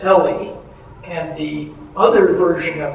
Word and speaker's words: ELE: So the my protagonist is E L E pronounced Ellie and the other version